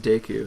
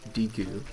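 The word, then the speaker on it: Deku: daiquiri shield and yeah it's pronounced de q it's not DQ and you probably hard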